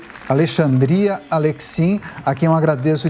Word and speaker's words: Alexandria: Alexandria, eu acho que essa é a pronúncia correta. Para começar... Alexandria.